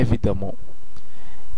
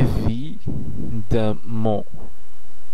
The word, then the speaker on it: évidemment: করব, তখন আপনি এই এক্সপ্রেশনটি ব্যবহার করতে পারেন évidemment। évidemment évidemment évidemment évidemment এটি যেহেতু পুরোটাই একটি এক্সপ্রেশন, এই পুরো শব্দটি হচ্ছে একটি এক্সপ্রেশন, পরিপূর্ণ একটি এক্সপ্রেশন, সেহেতু এটিকে আপনারা একসাথে উচ্চারণ করার চেষ্টা করবেন évidemment।